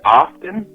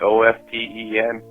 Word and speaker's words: often: The word often, like O-F-T-E-N, it's actually pronounced often.